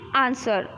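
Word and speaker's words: answer: letter silent होता है जैसे की आंसर तो आप आंसर तो नहीं बोलते हो ठीक है आप क्या बोलते हो आप आंसर नहीं बोलते हो वह का इस्तेमाल नहीं करते हो अब क्या बोलते हो आंसर आंसर बोलते हो तो इसमें ब्लू शब्द क्या है साइलेंट है ठीक है स्वोर्ड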